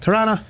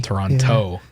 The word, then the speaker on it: Toronto: we even say that Toran and you know what people say if you know when someone's not from Toronto CU they they pronounced the second T Toronto yeah it's like when